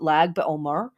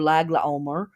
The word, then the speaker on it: Lag BaOmer: the minor holiday of Lag BaOmer, or Lag LaOmer, pronounced differently by different groups of people.